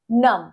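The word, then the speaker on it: numb: প্রচন্ড ঠান্ডায় সেটাকে বলব মাই হ্যান্ডস হ গন নাম মাই হ্যান্ড হ গন নাম এখানে হচ্ছে বিটা সাইলেন্ট থাকবে এর উচ্চারণটা হবে নাম।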